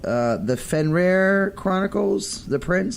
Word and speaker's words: The Fenrir Chronicles: And the book is called The Fenrir Chronicles, The Prince.